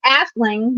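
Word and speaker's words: Aisling: Irish language and so the original spelling is actually a i s l i n g which is pronounced asling but nobody could pronounce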